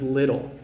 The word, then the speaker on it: little: just the pronunciation of little i'm american so my t in the middle of a word uses something called the flap t or the tap t and some people think